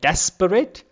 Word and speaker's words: desperate: have three syllables, but the first syllable is stressed like desperate, and the remaining two parts, the remaining two syllables are unstressed. Like in desperate, you will see the first part is stressed, desperate.